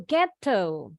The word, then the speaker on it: ghetto: Ghetto atau ghetto. Bacanya kalau orang Inggris T-nya jelas. Ghetto kalau orang Amerika yang di tengah nih bunyinya seperti D cepat. This is called the flap T sound in American English pronunciation.